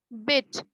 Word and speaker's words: bit: देखो इसका almost sound same तक है ना, सॉरी क्या लिख रहे हैं, bit, BIT, bit, and the other word is BEAT, beat।